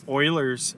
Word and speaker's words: Euler: for the front the back is going over Oilers theorem it spelled Euler but it's pronounced Euler and it's as f plus V